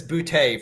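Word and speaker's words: Boutte: In the comments, Ike says it's Butte for the record.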